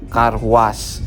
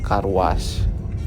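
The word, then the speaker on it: Carhuaz: kota kecil di Peru namanya kar was ya kayak cuci mobil kar was Tapi bacanya karw apa tulisannya bukan seperti ituewa kota kecil tersebut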